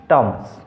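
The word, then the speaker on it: Thames: है, टी एच में एच जो है वो साइलेंट है, इसलिए हम क्या पढ़ेंगे, टॉमस।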